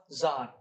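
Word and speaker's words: Tsar: तो जो नोबल्स है, नोबल लैंडलॉर्ड्स, वो कहाँ से पावर ले रहे हैं, जार मतलब चाहे सार कह दो चाहे जार कह दो कोई बात नहीं, वो टी साइलेंट है, तो वो सार से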